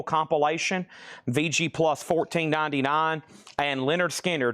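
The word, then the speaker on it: Lynyrd Skynyrd: VG Plus $14.99 and Leonard Skard pronounced Leonard Skinner.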